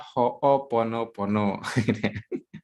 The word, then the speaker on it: Ho'oponopono: Oke, jadi pengucapannya adalah Ho'oponopono. Jadi memang ini bukan lafaz kita ya, ini lafaz dari bahasa Hawaii sana.